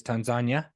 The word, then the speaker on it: Tanzania: a buttload in Tanzania, which is how they say it. So Tanzania. Well, it's not Tanzania, it's Tanzania.